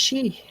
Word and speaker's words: Sidhe: So it's pronounced she.